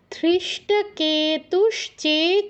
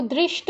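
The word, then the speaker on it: ধৃষ্টকেতু: যাচ্ছি পাঁচ কি আছে ধৃষ্ট কেতুস কিক ধৃষ্ট কেউ দৃষ্ট বলবেন না আগে দকে ধরেছেন কয়েকজন এখন আবার ধকে দ তৈরি মানে বানিয়ে দিবেন না ধকে ধই বলতে হবে ধৃষ্ট কেতু কেতে দীর্ঘ ধৃষ্ট কেতুস চেকিতান বিসর্গের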